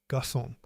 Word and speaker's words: garçon: gacon garçon Gacon is not the correct spelling. Garçon is correct. The cédille tells you to pronounce the C like S.